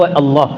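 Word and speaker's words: الله: मुश्किल नहीं होगी आपको अल्लाह बयान करने में आप अल्लाह भी कह सकते हैं असल प्रोनाउंस जो है असल जो इसका तलफ्फुज है वो अल्लाह थोड़ा सा लाम को मोटा करना है और इसका एक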